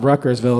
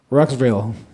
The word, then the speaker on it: Rutgersville: the locals is they take like a syllable out it's not Rutgersville it's like ruxville it's not like that